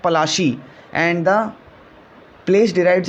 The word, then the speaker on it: Palashi: Plassey is an anglicized pronunciation of Palashi, and the place derived